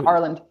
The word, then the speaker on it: Arlynd: So that guy, the guy that you married, you're talking about Arlynd? Is that how you pronounce his name? Yeah. So, yeah, Arlynd.